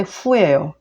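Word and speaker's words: 酗: 그러니까 술 주정할 발음은 근데 후예요.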